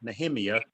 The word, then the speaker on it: Nehemiah: to tell you that apparently there is another pronunciation that's not a south georgia pronunciation of nehemiah and it is probably more accurate it is okay so when you hear her say nahimia you think nehemiah okay all right so here's